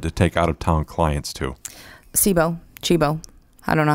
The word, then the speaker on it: Cibo: Yeah, that's Chibo. My wife's Italian. Chibo, it's amazing.